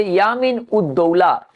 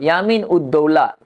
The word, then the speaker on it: ইয়ামিন উদ্দৌলা: Hyphen উদ, DAULA, Daula, ইয়ামিন উদ্দৌলা। এটার মানে হচ্ছে সাম্রাজ্যের দক্ষিণ হস্ত। ইয়ামিন উদ্দৌলা হাইফেন দিয়ে। আসলে দেখো, আমরা নামগুলো একসাথে উচ্চারণ করি ভারতের কালচারে, আর ওরা কি করে, ওদের ভেঙে উচ্চারণ করে।